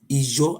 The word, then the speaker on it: Ijo: Ijo, I-J-O. Ijo. You see, it's 3 words how to pronounce it.